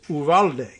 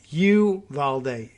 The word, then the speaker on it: Uvalde: certainly like that look the name of that town is uvalde uh i don't know if that's a spanish word or not but that's the only way i would pronounce it you valde is even wrong you valdi is totally wrong never mind the number